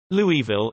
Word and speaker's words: Louisville: Louisville is a town in Barber County, Alabama, United States. Originally named Louisville and still pronounced as such.